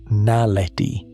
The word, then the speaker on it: naledi: Lee Berger's team named it Homo naledi, pronounced naledi.